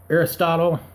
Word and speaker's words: Aeropostale: Other retailers like Sears, Express, MK, Victoria's Secret, Jimenez, Tilly's, American Eagle Outfitters, Nike, Jordan, Puma, Aeropostale, that's how you pronounce it, and Kmart began Black Friday sales early Thanksgiving morning and ran them as late as 11 p.m.